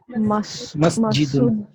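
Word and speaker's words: مسجد: and we pronounce it masjidun. But while speaking, you can also pronounce it masjid. In common spoken language, we can pronounce masjid, we can pronounce kitab,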